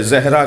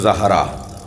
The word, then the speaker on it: زہرا: کر رہا ہوں کہ ہمارے ہاں عجلت میں جلدی میں زہرا کہہ دیتے ہیں، صحیح تلفظ زہرا، زال پر زبر۔ کہتے ہیں یا رسول